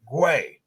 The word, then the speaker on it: Guay: And I had to ask him, how do you say your last name? And he said, put a W in there and you'll figure it out. Guay.